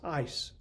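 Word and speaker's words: εἰς: And so the Greek word for to or unto is the word that we would pronounce eis.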